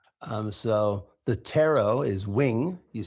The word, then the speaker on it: ptero: And so, the Greek word for a wing, okay, for the wing of a bird was tero, okay, which is spelled p t e r.